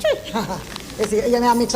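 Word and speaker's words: Twi: T-W-I, but it's spelled tree. It's spelled T-W-I, but it's pronounced tree.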